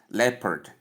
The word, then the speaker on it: leopard: We also have R sound in bracket because of the American pronunciation, and then the D sound. So when we combine all these sounds, we have leopard, leopard, leopard, leopard.